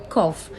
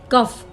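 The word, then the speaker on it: cough: Normally लोग कहते हैं कफ, कफिंग, रोहन इज कफिंग या द चाइल्ड इज कफिंग, लेकिन इसकी प्रोनाउंसिएशन है कॉफ, ठीक है।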